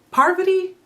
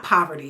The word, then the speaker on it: Parvati: Parvati? I know it's not poverty, it's Parvati.